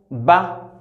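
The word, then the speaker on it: ب: Nous avons ici la lettre Ba.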